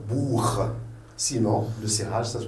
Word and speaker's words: Buch: Donc, A avant CH, ça devient H, Nacht. O avant le CH, c'est un Woche. Le O avant le CH, c'est un Buch.